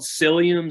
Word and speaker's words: psyllium: that um it's called it starts with a P but the p is silent you know the English